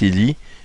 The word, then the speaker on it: Élie: Ça se prononce comme Élie, comme le prophète Élie, comme Elijah, ici.